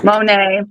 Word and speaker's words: Moné: I mean, money or Monet? Monet.